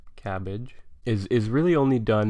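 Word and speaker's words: CABG: coronary artery bypass grafts or cabbage as the acronym sort of allows us to pronounce it cabbage is is really only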